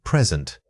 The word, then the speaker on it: present: This word is one of the most common sources of confusion because it changes meaning based on where you put the beat. Remember to give that second syllable, sent, a strong push and hold slightly longer.